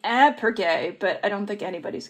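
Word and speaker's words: iPrEx: went into the pronunciation so ipergae actually stands for an intervention so it should be ab per gay but i don't think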